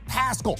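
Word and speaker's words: Pascal: you're going to find zach paschall rhymes with rascal and the balls out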